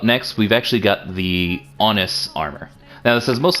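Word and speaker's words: Aonghus: right so up next we've actually got the onus armor now this is most likely where we get the name angus but ian irish is pronounced honest now in irish mythology honest is the the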